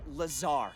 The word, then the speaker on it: Lazar: Rangers, this is Laser Blazer. Laser a Blazer. researcher in our R&D department. And its sales liaison. It's Lazar, actually. Accent on the czar.